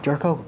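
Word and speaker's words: Gyorko: I wanted to talk about Jed Jerko. Is that how you pronounce it? Yeah. Jerko? Okay.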